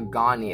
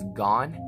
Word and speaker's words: Ghani: I did with Ghani, it's not Ghani, it's Gone. And there's a first name, so that makes more sense, but it just said Gone.